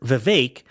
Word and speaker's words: Vivek: guess Vivek might over Vivek which rhymes with cake might overtake uh nice